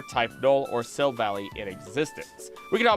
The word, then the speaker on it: Silvally: Aether Foundation, resulting in 3 Silvally, which is a weird way to say the name, but I believe that's the actual correct way to say it. I'm just going to say Silvally, who went rogue and